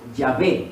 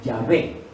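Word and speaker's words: Yahvé: las vocales entonces y a ciencia cierta lo que más se aproxima a esa actitud lo que más se aproxima no es que sea exacto es llave ni siquiera es yagüe sino ya ve es lo que más se aproxima a la pronunciación pero la verdad es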